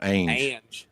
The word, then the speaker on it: Ange: Ange.